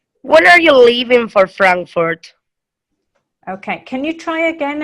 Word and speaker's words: Frankfurt: the first syllable leaving and Frankfurt will be the first syllable as well okay the rules for